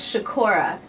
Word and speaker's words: Sikora: feels so good being next to you Joseph shakoora nice well done I said it right I